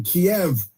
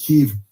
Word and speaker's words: Kiev: of uh protesters killed by his forces in Kiev which is not pronounced Kev.